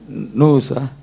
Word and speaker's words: nous: எப்படி ப்ரொனவுன்ஸ் பண்ணலாம்? நூஸா?